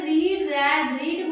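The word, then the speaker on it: read: रीड देखो रीड रीड बोलते अलग-अलग है। इन्हें रीड रेड रीड बोलते हैं। पर ये इनकी स्पेलिंग सेम होती है। रीड रीड रीड spelling same है पर कन्वर्सेशन अलग है।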